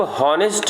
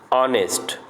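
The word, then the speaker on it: honest: दूसरा है एन ऑनेस्ट मैन, इसको हॉनेस्ट नहीं पढ़ेंगे, क्या पढ़ेंगे, ऑनेस्ट, तो एच साइलेंट है, ऑनेस्ट अ, तो इसका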